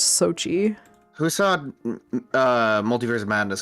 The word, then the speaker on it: Xochitl: No, it's so is it Sochi? Oh, geez, I don't know, because that's Xochitl. I'm almost 100% sure it's Sochi.